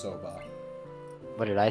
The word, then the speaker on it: soba: It was a Saba stall, I think. Yeah, it was. Yep. Just so you're aware, and I'm not criticizing you at all, that is pronounced soba.